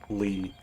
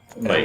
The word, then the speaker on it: Leigh: Jeremy Lee. Lay. L-E- Okay. Lay. I got the right one.